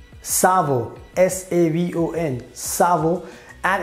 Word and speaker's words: savon: So in French language, we call it savon. Savon.